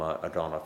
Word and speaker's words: Odonow: But anyway, okay, so that's all from Odonow. Did I pronounce that right? Yes. Okay, folks, that's all from Odonow.